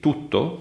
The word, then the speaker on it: tutto: For example, if you take the English t sound, like in take, that is an alveolar sound. You pronounce it in a specific place of articulation, that is above the upper teeth. This is not the same in Italian.